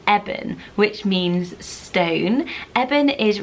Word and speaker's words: Eben: Some people may pronounce it Eben, but I think the correct pronunciation is Eben because it's shortened form of Ebenezer.